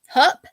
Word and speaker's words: Hupp: So we are talking about Pam Hupp. Am I saying it right? Yep. Hupp.